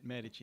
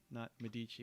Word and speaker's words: Medici: Medici, you pronounce it Medici, not Medici, but whatever.